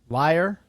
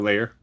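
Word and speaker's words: lair: Um uh this is from layer or how do you say L A I R? Liar. No, layer. Layer.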